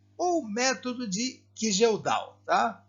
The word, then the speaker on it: Kjeldahl: É o método de Kildall, ou método de Kijeldal, tá? A maioria dos vídeos que vocês vão encontrar por aí fala método de Kijeldal, que é a forma correta da gente pronunciar, né?